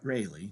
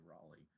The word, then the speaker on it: Raleigh: rich nobleman by the name of sir walter rayleigh that's how you actually pronounce his name i know we all saw you say raleigh but it's a really is actually how you